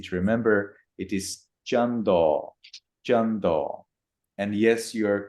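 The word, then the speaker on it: cando: So I translated into Pali like kando akase udati. Is it correct, or Jando, rising? jando, not kando. Jando, all C's in Pali text will be read as cha.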